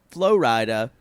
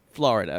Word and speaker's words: Flo Rida: artist known as Flo Rida was not pronounced Florida.